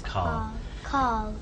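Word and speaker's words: Karl: No, Carl. His name is Carl. Carl. K-A-R-L. Carl. Carl. Yeah. Carl. Carl. Yeah. Carl. It seems like without an R.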